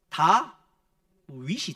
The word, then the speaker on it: 다윗: 원래 히브리어 옛날 성경 보면 자음만 기록되 있습니다. 하여튼 DVD인데 요게 모음을 갖다 붙이면 무슨 이름이 되느냐? 다비드가 됩니다. 다비드가 됩니다. 근데 그 다비드를 성경의 이름 그대로 발음하면 뭐가 될까요? 다 윗이 됩니다.